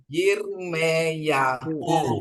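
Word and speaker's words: ירמיהו: Jadi bacanya Yirmeyahu ya. Yirmeyahu.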